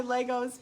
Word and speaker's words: Lego: Why isn't it Legos? It's not plural. It's just Lego.